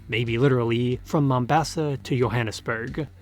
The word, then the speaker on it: Johannesburg: The assassination by Thompson gun sends Van Owen's corpse flying, maybe literally, from Mombasa to Johannesburg, pronounced Johannesburg in some renditions.